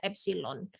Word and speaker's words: epsilon: Nah, nanti kalian ceklah di Google gimana cara nulis E itu, tapi bacanya adalah epsilon. Maksud saya mau mengatakan dia epsilon.